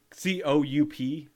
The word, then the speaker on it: coup: That's but the P is silent.